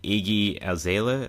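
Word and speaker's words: Iggy Azalea: And I heard about that vid, the music video, JLo and Iggy Aela, that's how you pronounce her name, the Australian rap artist called Booty.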